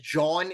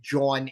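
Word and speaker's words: jawn: Now, if you know Philadelphia, you know what a John is. And of course, nobody really knows what a John is. It's spelled J-A-W-N.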